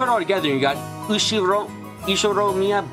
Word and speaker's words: Ushiromiya: The first part is my family name, Ushiromiya. That's a fairly plausible Japanese pronunciation so far.